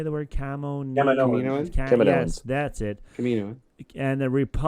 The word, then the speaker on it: Kaminoans: Kaminoans.